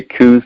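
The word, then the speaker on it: Coues: group different groups that you know call them cows deer which is actually the correct pronunciation and then there's a bunch that say coos deer and regardless of what you call them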